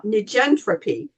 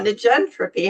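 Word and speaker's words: negentropy: So I'm going to say it and spell it for you. It's uh nentropy which is ne ge n t r o p y.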